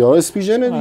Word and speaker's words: Spigen: بدی حالا کاری ندار اسپیژن یا اسپیگن یا اسپیژن اینا رو چ تلفظی اسپیژن دیگه آقا این برند خیلی